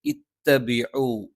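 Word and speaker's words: اتَّبِعُوا: ഇത്തബിഉ ഇ എന്ന് കൃത്യമായും ഈ എന്ന് തന്നെ ഉച്ചരിക്കുന്നുണ്ട് എന്ന് ഉറപ്പുവരുത്തണം. തൊണ്ടയുടെ താഴ്ഭാഗത്ത് നിന്ന് ഇത്തബിഉ ഇത്തബിഉ.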